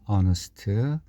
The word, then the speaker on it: honest: 형용사를 앞에 붙이면 정직한은 영어로 honest, 그리고 관사를 붙여야 되는데 정직한 사람은 세상에 많습니다. 진짜로. 그 중에 텀이 한 사람이니까 하나를 의미하는 부정관사 어를 붙여야 되는데 honest에서 그 H가 묵음이어서 모음으로 시작되는 단어로 간주됩니다.